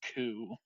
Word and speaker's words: coup: I can't even blame you for that one, but it's coup as in coup deta.